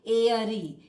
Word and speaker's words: airy: तो यहाँ पे आर साइलेंट नहीं होगा, ये आर का उच्चारण होगा एयरी, ए अ र ई,